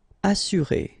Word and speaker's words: assurer: Assurer, all right, you get two vowels here, but then double S, so it should be really strong. S, assurer.